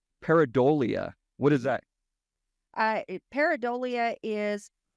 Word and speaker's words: pareidolia: Pareidolia. Pareidolia.